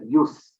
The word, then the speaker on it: jus: The word JUS, JUS, pronounced as use, perhaps one of the